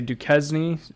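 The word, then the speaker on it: Duquesne: I could tell you cuz I say duzn people say Duan people say I think the correct way to say it is Duan so but I saw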